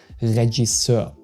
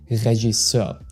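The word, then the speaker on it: Regisseur: Regiser. Regiser. So, the G is soft like in genre and you pronounce the ending eur more like a okay than e r.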